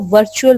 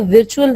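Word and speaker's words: virtue: एक लफ्ज होता है वर्चू, नेकी जिसको हम कहते हैं, ठीक है, उसको भी आपने हमेशा उसको विर्चू नहीं पढ़ना है, उसको भी वर्चू पढ़ना है।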